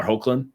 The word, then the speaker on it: Hoechlin: then they're getting their rid like Tyler Tyler hoechlin that's how you pronounce it yeah and then also Camila Mendes